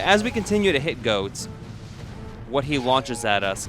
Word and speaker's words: Goht: yes it is pronounced goat I know it says goht but it is pronounced goat it is homophonic with goats and I also read